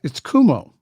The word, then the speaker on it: Cuomo: Did I pronounce him right? It's Cuomo. It's Andrew Cuomo, limiting the number of people attending religious services.